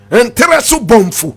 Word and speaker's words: Nteresu Bomfu: Nteresu Bomfu. Repeat after me. Nteresu Bomfu. Nteresu is spelled N-T-E-R-E-S-O hyphenated B-O-N-F-U.